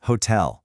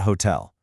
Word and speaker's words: hotel: and it's hotel stressing the end, not hotel.